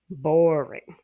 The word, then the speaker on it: boring: Boring is the stress on the BOR, boring.